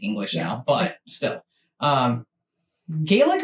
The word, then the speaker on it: Gaelic: now but still um Gaelic or gallic because over here we always say Gaelic which I think is probably wrong well he's saying the other way sir yeah anyway that